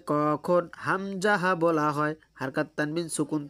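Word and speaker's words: همزة: প্রশ্ন হামজাহ উচ্চারণ কেমন হবে? উত্তর হামজাহ হলকের শুরু হতে শক্তভাবে আদায় হবে। হামজাহ হলকের শুরু হতে শক্তভাবে আদায় হবে। আ এইযে গলার মাঝখান থেকে শক্তভাবে আদায় হবে। আ এরকমভাবে। ঠিক আছে?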